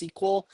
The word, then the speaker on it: SQL: you may have heard of are SQL SQL pronounced SQL um and my SQL is one particular implementation